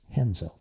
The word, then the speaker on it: Renzo: it's Raphael Halbert, but in Portuguese you pronounce the R with an H.